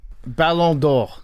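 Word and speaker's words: Ballon d'Or: The balloon door. How do you pronounce it, Jake? Balondor.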